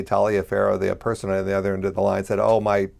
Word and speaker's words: Taliaferro: Well, it's obviously an anglicized pronunciation. My family ancestors originally came from Italy, but they got to this country very early into Virginia, into the 1600s, and I'm sure that the pronunciation got stepped on for many years.